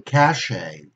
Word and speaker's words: cachet: We see a T, but we don't pronounce it. Or cachet, you know, the money that you get paid